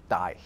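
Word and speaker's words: dæg: It has a G at the end, although it was actually pronounced more like a Y. It was die.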